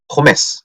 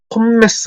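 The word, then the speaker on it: Pommes: 그때는 포메스 이렇게 읽는다 그랬죠. 포메스. 이거 M 두 개라고 폼메스 하지 마세요.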